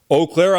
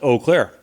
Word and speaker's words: Eau Claire: Tower Park there's a water tower it says oakair on the side of it and I lived